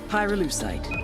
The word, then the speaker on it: pyrolusite: yeah no they did i Pyrrha lucite key syllable pyro by the way is the